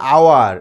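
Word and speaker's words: hour: অ্যান্ড আওয়ার, এইচ ও ইউ আর, এটা ইংরেজিতে উচ্চারণ হয় আওয়ার, এইচ এর উচ্চারণ হয় না, সেই জন্য এখানে কি বসবে?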